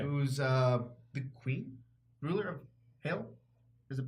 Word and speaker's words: Hela: who's the queen, ruler of Hell. Is it pronounced Heel? Hyle? It's hell. It's still pronounced hell. Heel? H-E-L hell. Heel.